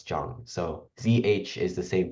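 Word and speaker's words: Zhang: kind of like J so like for example um Jang right that would be z h n g in English we probably pronounce it as like Zang or Jang but um in English in Chinese we pronounce it as Jang so zh is the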